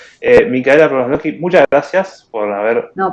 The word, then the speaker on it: Promoslovsky: me recuesta de pronunciarlo. Micaela Promoslovsky, muchas gracias por haber No, por favor.